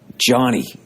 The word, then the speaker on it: Gianni: But it's this guy, Johnny, but it's spelt the Italian way. And he's out of San Francisco, and he goes, like it looks like it almost looks like Giovanni, kind of.